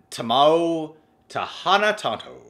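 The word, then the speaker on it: Timo Tjahjanto: Here's the proper way to pronounce it. Tamao Tahana Tanto.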